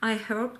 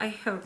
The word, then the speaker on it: iHerb: Тех, кто говорит о том, что произносить слово iHerb нужно без буквы H, то есть iHerb, если я буду так называть, то вы не поймете H, да, не читается.